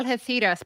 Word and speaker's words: Algeciras: Now, Algeciras, by the way, that's how you say it in Spain with the theta.